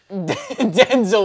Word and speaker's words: Denzel: That's actually how you're supposed to say his name. Really? Yeah, I just watched the interview recently. He was you like, everybody's Denzel? Pronouncing my name wrong.